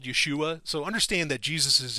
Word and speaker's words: Yeshua: Greek anyway um and Yeshua is how you say Joshua or yeah Yeshua is how it was originally pronounced you know in Hebrew uh so yeah